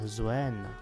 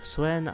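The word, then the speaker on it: Xuen: pádem pandarenský celestial by se měl vyslovovat Zuen. Ať si vyberete buď Suen anebo Zuen, to už je úplně na vás, rozhodně se to nevyslovuje k Suen, jak to vyslovují někteří lidé a to by bylo bohužel všechno pro dnešní epizodu.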